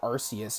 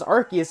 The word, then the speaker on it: Arceus: genders a lot of people still say arceus even though it's pronounced arc they literally pronounced as arceus in the in the trailer for um legends